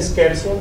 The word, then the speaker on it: scherzo: El segundo movimiento es el scherzo, no sé, tú sabes pronunciarlo mejor que yo.